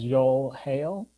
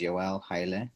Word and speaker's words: Yoel Haile: our next speaker is joel hale not sure i pronounced uh the first name correctly good morning can you guys hear me yes good morning everyone my name is joelle haile that's y-o-e-l-h-a-i-l-e i work as a